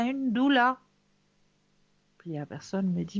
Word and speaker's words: doula: servante de la femme il se prouve prononce doula en choisissant un accompagnement